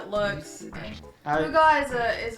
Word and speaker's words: hygge: But it's spelled Hygge, so it looks like Haig, but it's pronounced Huga.